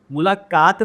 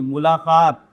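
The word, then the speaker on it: मुलाक़ात: क वाले लिखते हैं मुलाकात, मुलाकात नहीं, मुलाकात।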